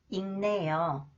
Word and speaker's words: 읽네요: When the final consonants 기역, 쌍기역, 니을기역 combine with 니은 sound, okay, they are pronounced 응. 작년, 볶는다, 읽네요.